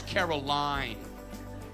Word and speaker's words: Caroline: Hi, Carolyn. It's Caroline.